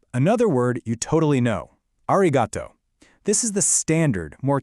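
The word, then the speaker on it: ありがとう: First up, another word you totally know, arigato. This is the standard, more casual way to say thank you, you know, to friends or people you're close with. Let's say it. Arigato.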